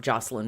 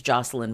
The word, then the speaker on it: Jocelyne: So sometimes her name is pronounced Jocelyne, sometimes it's Jocelyne. I am going to go with Jocelyne because it's how most of the media reports tend to pronounce her name in the sort of English style.